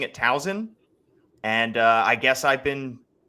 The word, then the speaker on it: Towson: Got roasted because people were saying it's not a Z, it's an S. I've lived here for 8-9 years now, and I've been pronouncing it Towson.